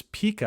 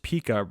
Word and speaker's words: Pika: that I want to bring to you is Pika I believe it's pronounced Pika you know correct me if I'm wrong in the comments Pica or Pika uh introducing Pika 1.0 which is